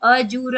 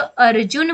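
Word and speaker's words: अर्जुन: उच्चारण बाद में है इसको हम अजुर नहीं बोलेंगे हम इसको अ जुन बोलेंगे हमेशा रेफ का उच्चारण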